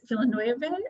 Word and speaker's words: Villeneuve: So I'm really excited to see how Denis Villeneuve, I believe is how you say his last name, tackles this seminal piece of science fiction.